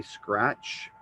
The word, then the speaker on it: scratch: And a lot of times, if your kids spell phonetically, they don't hear the T. So your brain is going to have to get used to words that have a silent T, scratch.